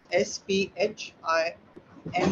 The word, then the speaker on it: Sphinx: I'm not pronouncing it well, but it's S-P-H-I-N-X.